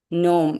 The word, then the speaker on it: gnome: Gnome. இதுவும் G silent.